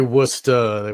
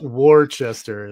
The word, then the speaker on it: Worcester: Worcester. Worester. Not from the east coast. You could say Worcester.